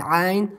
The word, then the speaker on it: ع: We pronounce it from middle of our throat, like ha, that we just I just explained it to you.